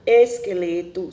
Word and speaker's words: esqueleto: E quando acompanhado do E ou o I, o QU tem um som da letra K.